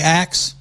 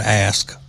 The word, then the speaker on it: ask: New Jersey citizen and you say axe, no problem. But you are a sitting member of the House of Representatives, which you should not be if you cannot pronounce the word ask properly.